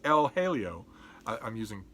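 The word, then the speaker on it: El Jaleo: writes, Julian Barnes writes that John Singer Sargent's El Halio, I know some of you are wincing, but I'm using Sargent's pronunciation.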